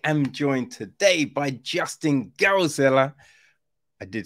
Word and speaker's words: Geldzahler: So I am joined today by Justin Geldzahler. I did say that right, right? Yeah, but Oh, 90%. okay. Geldzahler. Okay. Woo! That's a win for me, Justin. I'm terrible with pronunciation.